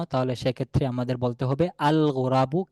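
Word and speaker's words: الغراب: যদি গোরাবুন শব্দের শুরুতে আমরা আলিফলাম নিয়ে আসি নির্দিষ্ট করার জন্য তাহলে সেক্ষেত্রে আমাদের বলতে হবে আল গোরাবু কাকটি, তাহলে লামটা উচ্চারণে আসতেছে, লক্ষ্য রাখবেন।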